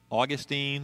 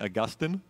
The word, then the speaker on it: Augustine: of a guy named saint augustine or saint augustine same guy it's just pronounced differently right so uh he's